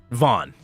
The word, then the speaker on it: Van: But you pronounce it Vaughn.